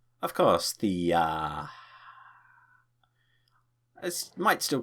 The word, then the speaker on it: Thea: Oh, that'd be my pleasure, Thea. No, not like that. Say it like Thea. Of course, Thea.